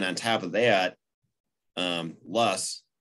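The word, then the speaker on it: loess: top of that um luss spelled o l e s s sometimes pronounced loose is soil particles of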